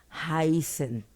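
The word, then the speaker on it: heißen: a suceder lo mismo aquí tenemos una Beta que se pronuncia como una doble s entonces va a ser haisen el verbo no lo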